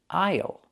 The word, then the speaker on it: aisle: Pronunciation aisle. The S is silent.